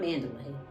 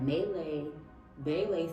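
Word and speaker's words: Malaybalay: how do you say melee B City melee B not manday but melee B City in the Philippines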